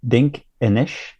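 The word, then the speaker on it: Dinkinesh: They have the Ethiopian name, I'm going to pronounce it terribly, but I believe it's Dink Enish, which means you are marvelous.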